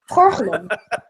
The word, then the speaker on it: gorgelen: Gorgelen.